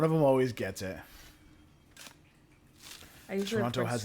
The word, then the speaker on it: Toronto: we can also oh so Toronto second T is silent by all right I